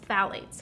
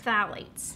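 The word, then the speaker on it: phthalates: really knew about is phalates phalates it's a tricky one to pronounce pH it's found in a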